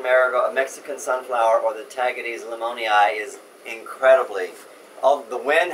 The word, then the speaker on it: Tagetes: It's called, let's see if I can pronounce this name, I remember the name of this. It's Tagetes, T-A-G-A-T-E-S.